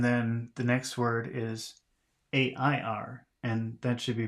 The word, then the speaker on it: air: And then the next word is A-I-R, and that should be pronounced air.